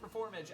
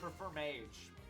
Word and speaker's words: Performage: have wrong sounding performage it is how it's said in the show it's always been performage and not perform Mage but I have just